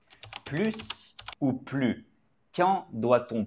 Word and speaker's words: plus: consonne exemple il est plus grand que Jean Grand est un adjectif qui commence par une consonne donc on ne prononce pas le s il est plus grand